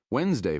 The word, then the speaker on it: Wednesday: Wednesday, for example, is Odin's or Woden's day, which would be more apparent if we pronounced it as it's spelled Wednesday.